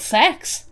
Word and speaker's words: CeX: There's a friggin' store that sells pre-loved games and stuff called Sex. It's spelled CEX, but it's pronounced sex.